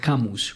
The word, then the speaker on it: Camus: El existencialismo de Albert Camus, o Albert Camus, pues el que pronuncie bien el francés.